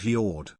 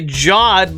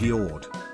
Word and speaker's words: Yord: that again please BTW my name is pronounced yard y-o-r-d good yeah perfect excellent